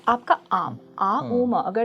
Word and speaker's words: ॐ: अपना मुंह बंद करें तो आम, ओके, आ उम। तो इसका क्या बहुत महत्व है। कॉन्सेप्ट आपने बताया, सही तरीका, मतलब ओम के प्रोनाउंसिएशन का, जैसे ओम ओम एक डिस्टॉर्शन है।